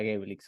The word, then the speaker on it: Geblix: así así fue empezó como terminamos adoptando lo que la gente nos decía que era gaelix así que hoy vamos